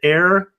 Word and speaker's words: Eir: An Irish telecom called Air, I believe is how you pronounce it, EIR.